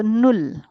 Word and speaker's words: null: u l l now if you take the pronunciation of U it is U it is U right so I read this as nul it's not null this is null whatever is the sound